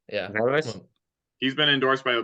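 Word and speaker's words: Vallas: Velas, yeah. Velas.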